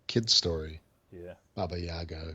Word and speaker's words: Baba Yaga: 29th and then the I want to say Baba Yaga is how you say yeah that's correct yeah uh the Temple